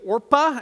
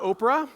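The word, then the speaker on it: Orpah: a lady named orpa everyone say orpa not Oprah but orpa all right I can't tell you how many times I read that my mind just like Oprah no not Ora Ora that's how you say it uh and then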